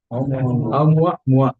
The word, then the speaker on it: Oumuamua: How do you pronounce this? Oumuamua. ಏನ್ ಹೇಳಿ? Oumuamua.